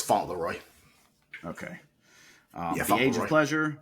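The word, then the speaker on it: Fauntleroy: you say that Elijah I'm pretty sure it's font Leroy okay um age of pleasure by Janelle Monae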